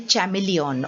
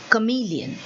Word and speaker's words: chameleon: Now children, many people say chameleon also, but then that is not the pronunciation which is there in the dictionary. Okay, so we say chameleon. That is the right pronunciation of this particular word.